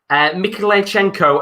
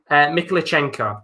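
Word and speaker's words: Mykhailichenko: Bloody hell, that's a hard name to pronounce. Mikhailichenko and Junior Marash have come onto the pitch. Yaremchuk and Zubkov have come off. Hopefully, that's quite a decent pronunciation. Mikhailichenko, that's how you pronounce it.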